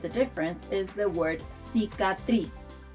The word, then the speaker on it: cicatriz: The best example to illustrate the difference is the word cicatriz. Cicatriz. Cicatriz. Scar. In Spain, people pronounce the soft version of letter C as th.